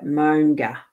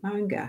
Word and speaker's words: Maunga: Right, Maunga is pronounced, I want to see this, is pronounced now as in mow the lawn, and nga as in ga, nga. So Monga. Oh, Monga.